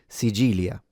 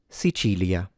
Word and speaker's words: Sicilia: In general, though, if you want to sound accentless, Sicilia, with a ch sound.